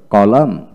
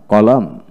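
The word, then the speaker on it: column: Word এর মধ্যে এম এন পাশাপাশি থাকলে এবং এর মধ্যে ভাওয়াল না থাকলে এন এর উচ্চারণ হয় না।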